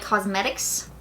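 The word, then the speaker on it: Cosmedix: I remember it because it has this interesting name where it looks like Cosmetics with like D-I-X, but you say it like Cosmetics.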